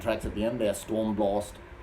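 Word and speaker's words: Stormblåst: So the 3 live tracks at the end, they're Stormblast. That's the way you pronounce it, Norwegian.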